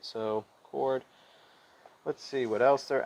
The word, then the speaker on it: chord: not through the center this is called a chord and it says pronounced chord here i might go back and